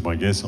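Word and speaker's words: Brengues: Cher Bringue, hein, on dit Bringue, Bringue ? Bringue. Ouais. Il y a des petits pièges. B-R-E-N-G-U-E-S. On ne prononce pas le S ? Non plus. Voilà.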